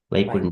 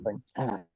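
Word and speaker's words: Vaikuṇṭha: So Vaikuntha, so this is pronounced tha. So generally it is a THA called so tha, but there is a dot under T. It is a T is stressed a bit stronger. Vaikuntha.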